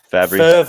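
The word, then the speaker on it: Faivre: Favre is what Fred Ilondo, the native French speaker, told us.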